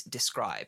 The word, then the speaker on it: Dscryb: The other partner to the show is Describe. Describe is spelled DSCRYB, and if you hit